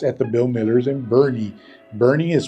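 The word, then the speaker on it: Boerne: Bernie but it is Bernie so those are three words that are pronounced differently than they're spelled and it's because they have some German influence in them other things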